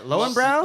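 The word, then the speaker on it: Löwenbräu: I don't know actually how to say it. Lowenbrau? Lowenbrau. Brow? Good. Brow. Lowenbrau.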